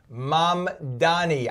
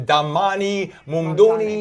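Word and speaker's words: Mamdani: I think we're going to have four years of Dammani. Money. It's mom Donnie. Think like mom as in mother and Donnie as in Donnie and Marie. Okay. Mom Donnie.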